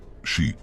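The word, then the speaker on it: 四: cultura japonesa, ya que la pronunciación del 4, shi, suena igual que la palabra para muerte.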